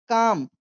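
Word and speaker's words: calm: इफ यदि यू तुम stay stay काम इसे कोई काल में नहीं पड़ेगा। एल यहां पर साइलेंट है।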